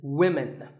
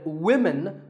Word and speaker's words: women: learners of English is women. This is, of course, because of the English language's crazy spelling system. But remember that we say woman for one woman and women for the plural. Women.